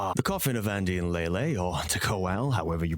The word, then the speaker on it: Leyley: second the coffin of Andy and lelay which I Will Stand My Ground and say that's how it's pronounced because it makes a